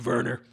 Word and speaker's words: Werner: I feel about you Verner but notice how I use the proper German pronunciation because I do like